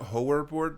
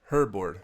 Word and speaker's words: Hoerboard: horror board stereo te I was calling it horor board before but a German viewer told me that's pronounced like hurt herbo and it is one of like the earliest